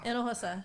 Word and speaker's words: Hinojosa: Hinojosa.